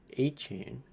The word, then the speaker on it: Etienne: Trevor Etienne I keep forgetting that's how you pronounce it.